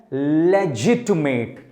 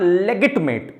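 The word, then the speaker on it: legitimate: Right, इसका pronunciation है लेजिटमेट। इसका जी ही साउंड करता है, गा का साउंड नहीं करता है। इट इज नॉट लेगिटमेट, इट इज लेजिटमेट।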